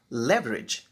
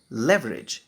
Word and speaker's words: leverage: तो पहला शब्द है लेवरेज। इसके दो प्रोनाउंसिएशन हैं, एक है लीवरेज और दूसरा है लेवरेज, पर हम यहाँ पे लेवरेज प्रोनाउंस करेंगे।